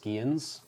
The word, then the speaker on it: Scions: I believe they're pronounced Skians.